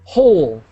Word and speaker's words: whole: lesson on pronunciation here whenever you see wh together in English really one of the letters is silent so in this situation the W is silent so we say whole whole a whole generation so what's what's the